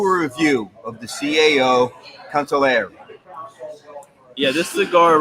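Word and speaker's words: Consigliere: You got to pronounce it correctly. The G is silent. It is. Consigliare.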